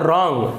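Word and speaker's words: wrong: इसी प्रकार से देखिए डब्ल्यू आर ओ एन G receive उच्चारण करेंगे हम यहां पर डब्लू है वह साइलेंट रहता है और इसको ऊंचा होता है रंग यहां पर देखिए डब्लू है वह साइलेंट है तो जब आपको पता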